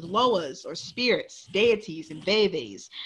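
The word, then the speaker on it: vèvè: Voodoo is an actual religion with loas or spirits, deities, and veves. The word veve is pronounced in two syllables with a short e in each.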